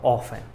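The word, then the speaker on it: often: हाउ ऑफन, टी जो है आपका साइलेंट होता है, ठीक है, तो इसको क्या बोलते हैं, हाउ ऑफन, राइट।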